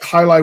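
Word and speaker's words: jai alai: the highlight game, and it sounds like highlight with an H, but it's spelled with a J. Yes. Which makes sense given if it's a Spanish game.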